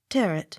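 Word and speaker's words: Tyrwhitt: a y n e tremaine accent on last syllable t-y-r-w-h-i-t-t tear it h v-a-u-g-h-a n vorn v a u x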